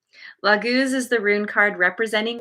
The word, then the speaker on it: laguz: okay here we go pronunciation laguz meaning fluid and water lagooz is the rune card